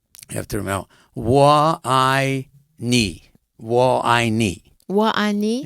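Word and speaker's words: 我爱你: It's it's, you have to remember, Wa I Ni.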